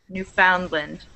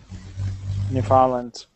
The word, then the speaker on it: Newfoundland: But when it's at the end of a place like this, it's pronounced more like lend, poundland, Newfoundland. Newfoundland, poundland.